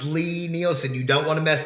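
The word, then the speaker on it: Lie-Nielsen: It is pronounced Lee Nielsen. I apologize. Well, that's all right, Bob. It is a common misconception, but people get really upset when you pronounce it wrong.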